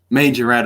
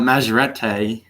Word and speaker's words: Majorette: whereas for me um it's pronounced some major red actually not majorette which some people say it that way too i don't know why